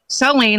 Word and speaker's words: Saleen: He wants to tell you that it's Saleen, like gasoline, which helps people remember how to pronounce it.